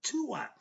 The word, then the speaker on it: Duat: So when you see D-U-A-T, it's pronounced Tua.